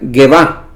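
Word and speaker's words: גאוה: Es la palabra que se pronuncia Gevá.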